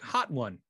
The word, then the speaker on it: Hotone: When I asked them, I said, is it Hotone or Hot One? They said it's Hot One. Okay. Cool. That is the official way they said you have to, you know, they say it.